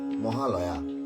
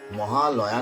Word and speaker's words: মহালয়: যে এই যে পিতৃতর্পণ মহালয়া তাহলে প্রথমে আমাদেরকে জানতে হবে যে মহা লয়া শব্দটির অর্থ কি শব্দটির উচ্চারণ তো মহালয়া নয় মহালয় মহা যুক্ত আলয় সমান হচ্ছে মহালয় আলয় শব্দের অর্থ কি